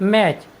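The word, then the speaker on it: match: next word meaning है एम ए टी सी एच मैच मैच मीस होता है मुकाबला साथियों यहां पर टी के बाद सी एच आया है इसलिए हमने टी का उच्चारण नहीं किया है हमारा नेक्स्ट वर्ड मीनिंग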